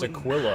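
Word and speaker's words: Aquila: piece of a world oh it's pronounced Aquilla I've been saying it wrong for 80 hours uh does anyone know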